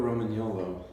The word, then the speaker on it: Romagnolo: This is a Legato Romagnolo. You gotta roll your R's.